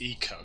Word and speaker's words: Ico: made its with its spelt ICO but it's actually pronounced eco like it was very